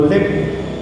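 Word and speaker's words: เล็บ: Sí, Se llama Lep. Lep. En Thai significa garra. Lep. Sí. Lep, con No por la L-E-P.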